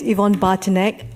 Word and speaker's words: Yvonne Bartnik: Bourg thank you very much miss unli miss Yvonne Bartnik hopefully I pronounced that correctly please have a seat and if you could state your name and suburb please for the record my name is Yvonne Barton egg from Melbourne I'm a committee member of the